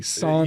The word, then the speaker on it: San Diablo: Or do you guys say San Diablo, or you say it properly, San Diablo?